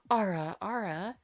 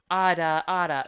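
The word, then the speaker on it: あらあら: So what you want to do is pronounce the Japanese pronunciation of it, which is ada ada. So that's like, think ADA ADA, not Yeah. ARA, if that makes sense.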